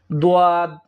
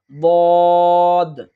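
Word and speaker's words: ضاد: একইভাবে বদ, এইটা আমরা ভুল করে থাকি এভাবে যে দোয়াদ দোয়াদ, এইভাবে হবে না, বরং বদ বদ।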